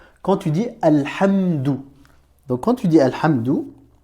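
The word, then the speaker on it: الحمد: écoute bien, Alhamdou, donc à la fin de Alhamdou, tu entends bien la syllabe dou, Alhamdou. Donc tu as bien le son D ici. Tu as la consonne D suivie après d'une voyelle OU.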